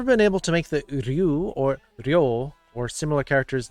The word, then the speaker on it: Ryu: it into one sound, maybe start with doing it slowly. Make it single syllables. So, Ryu. Ryu. Ryu. Just try to like, Ryu. Ryu. Ryu. Ryu. Ryu. So, it's just about making it a little bit faster in between.